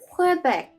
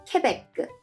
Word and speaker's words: Québec: okay so let's see quebec is an english pronunciation and the french pronunciation is quebec correct their slogan is